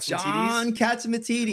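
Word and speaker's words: John Catsimatidis: John Katzimatidis.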